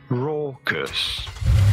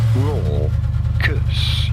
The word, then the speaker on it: raucous: Raw curse. Raw curse. You do want to stress on the first syllable, the raw syllable.